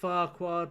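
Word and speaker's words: Farquhar: I know it's pronounced Farqua.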